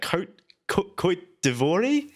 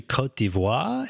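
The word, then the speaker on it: Côte d'Ivoire: say that Jose that Cote d'Ivoire II it's actually Cote d'Ivoire it means never it's the Ivory Coast base though it's the French Way of saying Cote d'Ivoire no egos residence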